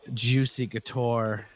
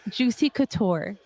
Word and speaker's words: Juicy Couture: make you one but it won't be with Juicy guar yarn because only ABJ gets the juicy guar y list say it right what did I tell you come correct itct it's Juicy Couture there it is if you guys want your